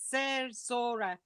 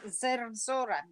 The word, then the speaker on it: Zerzura: Zerzura. Round the R's.